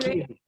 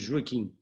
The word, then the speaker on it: Joaquim: Joaquin, that's the Spanish way. That's okay. I'm used to all kinds of pronunciation. In Portuguese, we say Joaquin.